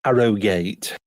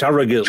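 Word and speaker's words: Harrogate: black wheels and um Arrow gate no it's arate love arant oh there was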